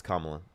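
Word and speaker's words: Kamala: I mean, uh, first of all, definitely abortion over like Camala Harris or abortion laws. Am I saying it wrong? Yeah, it's Kamla. Um, have you been on my live before?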